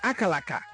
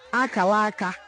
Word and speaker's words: Akalaka: Some say Akalaka, but it is Akalaka, an Igbo name.